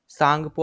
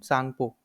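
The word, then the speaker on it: Tsangpo: तो पहला यहां पे यारलंग तांग पो ठीक है सांगपो आप बोल सकते हो ठीक है टी तो इसका साइलेंट होता है तो यारलंग सांगपो ये कहां पे है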